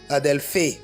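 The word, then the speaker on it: ἀδελφή: Prononcer, on va voir. Adelphé. Adelphé, voilà.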